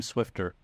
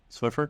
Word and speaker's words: Swiffer: mops um are you team Swiffer or team swifter what how do you pronounce it Swiffer Swiffer okay when you when you yeah people